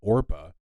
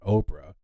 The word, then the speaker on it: Orpah: Her given name is actually Orpah, not Oprah.